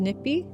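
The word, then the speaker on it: nipiy: In our language, in Cree, it's pronounced nipi.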